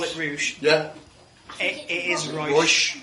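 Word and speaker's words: Reusch: Because I've always pronounced it Rouge. So we call it Rouge. Yeah. It is Rouge.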